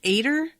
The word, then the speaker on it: Ater: um so yeah better it's not it's pronounced ater but i think i like adder so i'm just going